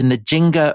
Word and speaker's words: Nzinga: So this is Nzinga of Ndongo. Yes. Have I pronounced that right?